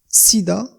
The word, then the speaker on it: SIDA: في le sigle ننطق كل حرف على حدة. ومن أجل الفهم أقدم لكم مثالا. SIDA، le mot SIDA est un acronyme، هو كلمة